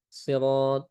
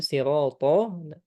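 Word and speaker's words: الصراط: Kemudian sirat ya huruf th juga sama huruf tebal maka kita tebalkan th. Jangan di kalau dibaca tipis jadinya ta nanti sirata siratalladzi siratal mustaqim. Ya, kalau kita hilangkan sifat tebalnya khawatirnya menjadi huruf ta di sana, maka harus kita tebalkan.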